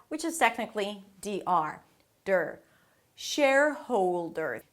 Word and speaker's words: shareholder: Shareholder. Think of it as if it has three parts. Share-howl-dr.